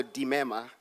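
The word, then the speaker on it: Limema: My name is Dimema, just a slight correction. In Sesotho, an L-I is pronounced D.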